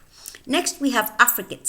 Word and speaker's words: affricate: And notice the pronunciation of this word, affricate, affricate.